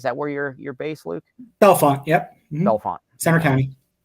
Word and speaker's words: Bellefonte: Bellefonte, yep. Mm-hmm. Bellefonte. Center County. Can I pronounce it Bellefonte?